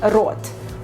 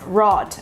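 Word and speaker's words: рот: Most probably right now you're pronouncing this word as rot, rot, because it's not so easy for you to pronounce the Russian r, which is really very harsh and tough, rot.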